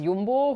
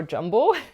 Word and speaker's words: Jumbo: Another thing that I didn't point out is that the main sponsor puzzle brand of the event was Yumbo or Jumbo depending on how you want to pronounce it.